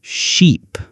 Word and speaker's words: sheep: Ship and sheep. Ship has a short sound I like in hit or sit. Sheep has a long sound e like in sea or tree.